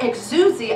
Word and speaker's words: exousia: word it's the word exousia exousia actually it's the correct pronunciation people call it exousia it's extrucia that greek